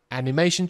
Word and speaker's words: animation: higher level of animation animation 重音在中间啊A level of, 会念成 a level of, a higher level of animation, a higher level of animation, animation, OK?